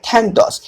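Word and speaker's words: Thanatos: নাম দেওয়া হয়েছে থ্যান্টস এই যে এরস থ্যান্টস এগুলো একচুয়ালি গ্রিক ভাষার নাম যে কারণে কিন্তু এরকম উচ্চারণ ঠিক আছে ইংরেজিতে এ বলে কোন শব্দ নেই গ্রিক থেকে ডাইরেক্ট এই শব্দগুলো এসেছে বোঝা গেল তাহলে এটা হলো থ্যানাটস আচ্ছা বলো এরস এবং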